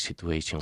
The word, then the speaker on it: situation: It is easy, and it's becoming easier because of the economic situation we're living Situation. Donde tienes la U después de una T o después de una D, la pronunciación cambia.